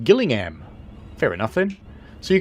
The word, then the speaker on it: Gillingham: rail Mark B says don't pronounce the h so it's just Gillingham fair enough then so